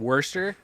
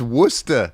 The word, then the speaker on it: Worcester: oh yeah he's uh jeremy can you tell me at worster am i saying it right i did live in boston like six years oh my god date no what no are you saying it's wrong it's worcesta what's up [ __